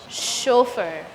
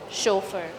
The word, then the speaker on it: chauffeur: Chauffeur. The A in U in French sounds as O. Chauffeur.